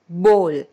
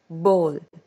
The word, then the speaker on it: bowl: wrong pronunciation is bowl that is wrong we pronounce it as bol okay so i hope from now students as well as the parents or whoever is listening to me will pronounce this word as bol okay so this was today's class i hope